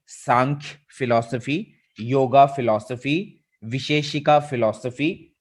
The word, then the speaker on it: सांख्य: ये प्रोनाउंस होगा सांख्य, है ना। जैसे संख्या होती है, संख्या, तो उसी से बना है सांख्य।